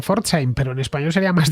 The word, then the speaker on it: Pforzheim: Sería claro, P y F, bueno, los alemanes lo pronuncian bien, como la ciudad de Pforzheim, pero en español sería más difícil, ¿no?